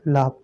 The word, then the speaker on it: laugh: और एग्जांपल देख लीजिए, LAUGH है ना, तो GH या हो तो ये साइलेंट रहता है, ये आपको पहले भी बताया गया है। और ये यू भी आपका क्या रहेगा, साइलेंट रहता है, इसको हम लाभ पढ़ते हैं, ठीक है।